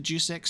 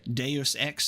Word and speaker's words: Deus Ex: being assassinated today when will I play the juice X Series I'll say I should read I should say it correctly Deus Ex series um it was actually in the poll